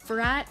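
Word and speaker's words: брат: nowhere Fields with zero signal service in Russian brat is brother well that's how it's pronounced ah brat in English is like uh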